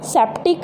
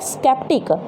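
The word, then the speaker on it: sceptic: सी की साउंड है, ये हमारे पास सी को हमने क्या प्रोनाउंस किया है यहाँ पर, क। ये सेप्टिक नहीं है, ये है स्केप्टिक। तो यहाँ पर सी है जो क की साउंड दे रहा है, तो क के लिए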